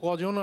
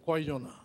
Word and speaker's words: কয়জনা: ভাওয়াইয়ার ব্যাপার তো এটা আর এই ধরায় আছে কজনা নয় কয়জনা কারণ এগুলো আঞ্চলিক শব্দ